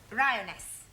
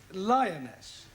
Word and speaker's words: lioness: Ryioness. Lioness. Ryioness. No. L R. You're not saying it right.